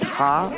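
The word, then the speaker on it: ห้า: laughing yeah it's uh you pronounce five as ha in Thailand In tha oh I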